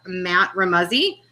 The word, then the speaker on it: Remuzzi: After Joseph, we'll have Matt Remuzzi, and he said it rhymes with fuzzy, so that was awesome.